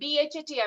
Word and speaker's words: Bhati: Now I give it to the Aditi Bhati. Aditi Bhati. Aditi ma'am, how to pronounce your name, ma'am? It's Aditi Bhati, BHATI Bhati.